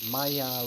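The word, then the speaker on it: Maillard: This brown bit here, right, if you look it up on the internet, it's called a maya reaction is how they say it in French.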